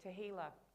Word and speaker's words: tehillah: New song in the Hebrew is tehillah. It's one of the only Hebrew words I can remember every time I think of it because it rhymes with tequila.